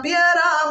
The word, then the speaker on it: piedra: Siendo la piedra más chica, siendo la piedra. Sometimes we don't pronounce the D either.